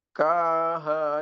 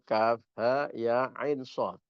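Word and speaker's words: كهيعص: Jangan uh ketoke fasih ngoan membaca kaha ya aso. Jangan sampai ketukar seperti itu. Padahal itu kaf ha ya ain shad dibaca sendiri-sendiri ya.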